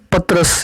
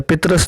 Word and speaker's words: پطرس: اور اس کی بنیاد پطرس یا پطرس، دونوں طرح اس کا تلفظ ہے، پطرس نے رکھی